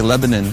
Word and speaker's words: Lebanon: It's spelled Lebanon, but here they say Lebanon, Tennessee.